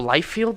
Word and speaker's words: Liefeld: the creator Rob Rob life-filled is how you say his name Rob I'll tell you right now Rob yeah Rob Liefeld Rob Liefeld and he